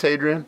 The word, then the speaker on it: Hadrian: weird name but i i thought it was adrian at first but apparently it's hadrian but regardless he's silent the h could be silent i could be pronouncing